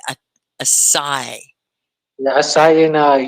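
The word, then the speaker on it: açaí: it's very healthy um you call it a sai because we've been calling it a chi so this the c is pronounced like s right a a sai la i saw in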